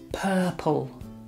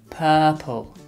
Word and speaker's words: purple: yatra son Morales purple the correct pronunciation is purple purple repeat purple purple purple that's it what shape